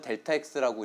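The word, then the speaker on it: Δx: 예, 이거 읽는 법은 델타 X라고 읽고요.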